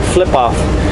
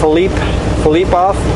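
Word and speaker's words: Filipoff: At first I read flip off, but Philippe off.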